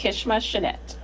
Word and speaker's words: Kischma Channette: It's Kishma Chanette.